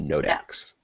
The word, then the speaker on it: NOD3X: yeah, Yeah, it's spelled with a 3. So yeah. There's no E. NOD3X. NOD3X. Yep, Yeah, Nodex.